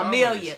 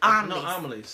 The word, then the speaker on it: Amelie's: Oh, we go to Amelia. Amelie's. Amelie's. You butchered that up.